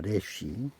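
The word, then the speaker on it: ריש: 레쉬.이 이 기억자처럼 생겼는데 레쉬라고 읽습니다. 레쉬 뜻은 머리입니다. 머리. 사람의 머리. 사람의 머리. 발음은 레시.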